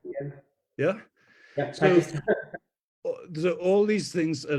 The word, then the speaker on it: Pakistan: like, I don't know, Pakistan, in an Indian pronunciation, I mean a South Asian pronunciation of that, the p has no breath with it.